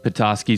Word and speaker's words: Petoskey: comes from the language of the ottawa people petoskey spelled with a d and not like the capital